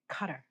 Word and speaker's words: Qatar: There's such a controversy over people pronouncing it cutter. What the hell? Well, it might be that that's the way they say it there and that is the correct speech.